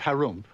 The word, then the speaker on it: Harump: In the land of Harump, which is pronounced like when you clear or throat there lived an ogre.